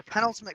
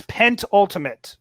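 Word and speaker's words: penultimate: message from the desk you actually pronounce that word wrong it is pent ultimate pen ultimate is the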